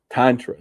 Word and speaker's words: tantra: Tantra tantra?" The answer was it rhymes with mantra.